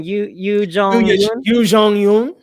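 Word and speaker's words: Youn Yuh-jung: I will say I'm rooting for I'm sorry, Leo, pronounce her name again. Yoo Jong-yoon.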